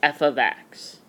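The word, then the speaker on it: f(x): And it's pronounced f of x. Of means multiplication, so f multiply x is basically what that parenthesis is showing. So it is pronounced f of x, with the of meaning multiplication, but what I want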